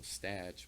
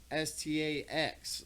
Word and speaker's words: Stach: And when I was a little kid, it's spelled Stach because it's German. So when I was in school, they would always be like, Statch. you know, the teacher could never pronounce my name. And my homie was like, it stacks, like just Stax. Like he told her, like, you know how you abbreviate Christmas with an X?